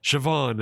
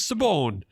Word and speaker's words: Siobhan: our language goes and this is pronounced Siobhan and the English were like oh no it isn't. that says Sabone and it's like nope.